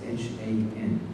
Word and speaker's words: Han: We spell it as H-A-N, and we pronounce it Han, not Han.